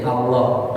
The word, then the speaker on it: Allah: lam plus ilah Nah jadi Allah tapi dibaca tafkhir tebal ya silamnya jadi ee